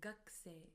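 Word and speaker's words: 学生: Although we write it as gakusei, we pronounce it as gakusei, gakusei, as if the u from ku disappears.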